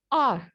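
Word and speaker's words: are: ठीक है, आर। ये हावर नहीं कहलाता, ये आवर नहीं कहलाता, ये ओवर नहीं कहलाता, ये आर, सिंपली आर। ठीक है, this is हाउ you pronounce it, आर।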